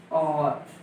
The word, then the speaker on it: और: जैसे और ले लीजिए, ठीक है, और ले लिया, इसका उच्चारण क्या होता है, और, यानी इसका ये यहां से शुरू हो रहा है आ से, और मैंने आपको बताया आ से ओ के बीच में कोई है तो उसके